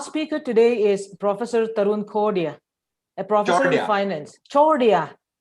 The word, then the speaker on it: Chordia: And our speaker today is Professor Tarun Chordia, a professor in finance.